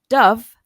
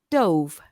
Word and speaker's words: dove: Now, this word can be pronounced either dove or dove.